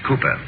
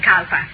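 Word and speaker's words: Cowper: cooper down uh it is hmm calper but pronounced cooper charlie only just the other day i heard you call him kalpa oh i know my dear i sometimes do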